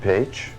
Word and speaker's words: Paich: David Paich. It's pronounced P-A-G-E? Paich. No, Paich.